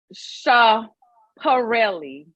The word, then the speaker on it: Schiaparelli: Michaela had on a gorgeous, and let me make sure I'm pronouncing it right because I don't need these fashion designers hit me up. It is Schiaparelli.